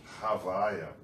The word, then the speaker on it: Havaya: Existe um modo de falar que é Havaya, tá?